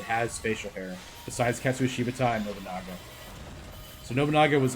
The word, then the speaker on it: Shibata: I'm trying to say Shibata because I'm pretty sure that's right, but I keep saying it wrong.